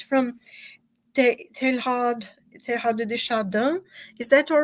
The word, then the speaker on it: Teilhard de Chardin: I think it's from Teilhard de Chardin. Is that all right? Is that the way it's pronounced, Charles? Teilhard de Chardin. Teilhard de Chardin, yeah.